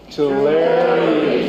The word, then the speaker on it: Tulare: Tulare County.